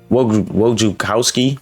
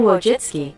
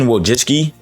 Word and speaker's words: Wojcicki: Also, this is all over the place, but YouTube ex-CEO Susan Wojciechowski, I'm so sorry.